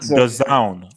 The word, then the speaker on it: DAZN: no, bro, this guy's not touching The zone. The zone. No, Oh the my zone. God. Zone. The Zone zone, is for, zone, like zone with a Z.